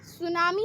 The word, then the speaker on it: tsunami: सुनामी एक Japanese word है. ये 2 वर्ड से मिलके बना है, सू प्लस नामी, एंड जिसका टी साइलेंट रहता है, जैसे ये सू प्लस नामी.